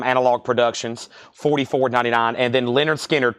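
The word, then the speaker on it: Lynyrd Skynyrd: Productions $44.99 and then Leonard skinnard pronounced Leonard skinnard 64.99 all right Judith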